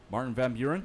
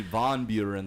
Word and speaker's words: Van Buren: second language robert turner martin van buren yes yes it's actually von buren that's the correct pronunciation of course what's his